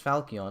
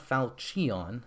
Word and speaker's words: falchion: to happen um uh i'm pronouncing falcion wrong i think it's pronounced falchion it's not falcion i know that um so so let's